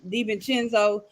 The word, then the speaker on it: DiVincenzo: I feel like I pronounced his name wrong. DiVincenzo, Malik No, B, that's how you pronounce his name.